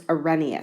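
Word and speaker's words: Arrhenius: of acids and bases weird-looking name it's pronounced a reneus so Ramius first really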